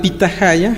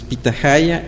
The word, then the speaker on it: pitahaya: el caso de Yucatán la H no es muda suena como J entonces pitahaya en maya se llama pitahaya pero es una forma